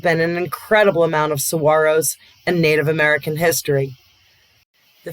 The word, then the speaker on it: saguaro: off other blue chips the national park of saguaro pronounced saguaro is home to the world's largest population